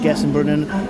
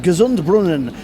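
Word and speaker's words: Gesundbrunnen: tight to get this train to connect at Gess and Brunan and then get on the train to Warsaw. Fingers crossed. Well, it turns out it's pronounced Gazund Brunan.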